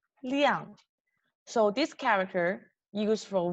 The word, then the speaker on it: 辆: Right, okay, and okay, so this one tricky one, because doesn't have any exact translation in English, and this character we pronounce 亮 liang.